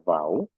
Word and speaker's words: V: itu dibacanya ku, lalu huruf V ya, dibacanya vau, lalu ada huruf W